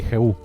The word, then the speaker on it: Jehú: Se pronuncia así, Juan Mari, Jehú.